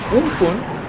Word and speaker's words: Amphan: Wait, the word Amphan, pronounced as Umpun, originates from Thai and it means the sky.